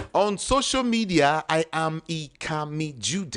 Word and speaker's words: Ikamijudeh: On social media, I am Ikami Jude. It's spelled IKAMIJUDEH.